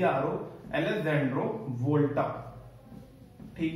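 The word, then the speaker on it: Volta: E double S ए एन डी आरओ अलेक्जेंड्रो वोल्टा ठीक है जैसे वोल्टास का इनवर्टर आता ना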